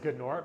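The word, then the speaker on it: G'nort: Eisner winning good Lord I'm gonna say it's pronounced gunore because it's G apostrophe nor right makes sense to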